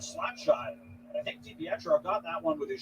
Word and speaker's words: DiPietro: DiPietro, that's how you pronounce it.